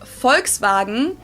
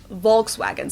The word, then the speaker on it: Volkswagen: it would be pronounced Volkswagen if not Volkswagen so just imagine that it was spelled with an f and V it's like